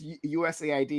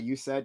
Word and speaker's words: USAID: tonight yeah uh Charlie It's pronounced usaid not you said I think you said